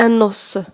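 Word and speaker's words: os: سوليديتي دي زو، سوليديتي يعني لي زو هما العظام، كتكتب لكم او اس كتنطق دي او، فاهمين؟ العظام هما دي زو، وواحد العظم كيتنطق ان نوس.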